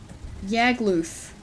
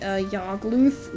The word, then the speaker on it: Yagluth: Yagluth. Like, loose with a lisp. Maybe Yagluth, rhyming with Smogtooth.